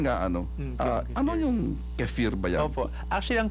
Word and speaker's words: kefir: ganito pero yun nga ano ah Ano yung kefir ba yan Opo Actually ang kefir po ay isang Turkish word ang ibig sabihin ay feel good kasi nga naman oo feel good kfar Actually ang pagpronounce niyon so ito y isang fermented na